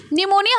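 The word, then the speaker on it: pneumonia: आपको कंप्लीट करनी थी निमोनिया हमेशा पी से स्टार्ट होता है जैसे साइकोलॉजी जो होता है ठीक है मनोविज्ञान जो होता है वो पी से स्टार्ट होता है है ना पी साइकोलॉजी लिखते हो नाना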